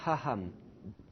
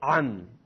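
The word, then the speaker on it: עם: Ham. Non, c'est pas ham. C'est am. Am. Vas-y, dis-le. Non, je t'entends souffler. Il ne faut pas souffler. Le aïn, il ne faut pas souffler.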